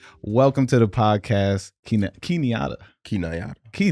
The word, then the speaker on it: Nyata: Welcome to the podcast, Key Nyata. Key Nyata. Key Nyata. I thought it was Key Nyata. You know, it's really either one.